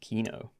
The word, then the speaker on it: Keenoe: And it's pronounced Keenoe.